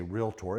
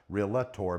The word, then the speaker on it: realtor: The reason why I say realtor is a lot of people include an additional syllable realtor, but it's actually realtor and it is a